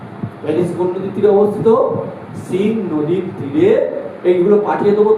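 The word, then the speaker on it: Seine: সিন নদীর তীরে। এ আই এ সিন নদীর তীরে অবস্থিত। Paris situated on bank of river. Paris কোন নদীর তীরে অবস্থিত? সিন নদীর তীরে।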